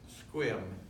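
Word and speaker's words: Sequim: Peninsula in the thriving metropolis of Squim, which is spelled S-E-Q-U-I-M.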